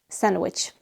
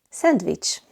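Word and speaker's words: szendvics: Number 6, sandwich. In Hungarian, sandwich. Sandwich. The letters S and Z make the S sound.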